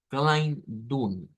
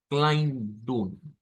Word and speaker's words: Kleidung: Porque la vamos a pronunciar como Kleidung. Kleidung. Va a ser bien sencillo, ¿verdad? La pronunciación de esta es una EI que se transforma en AI.